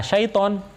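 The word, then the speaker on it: شيطان: Nah, kalau ada seperti ini biasanya panjang syaiton. Nah, syaiton. Nah, a'udzu billahi minasyaitonir rajim. Lah, toknya karena ada alifnya itu maka panjang. Nah, juga nggak boleh terlalu panjang, satu alif saja.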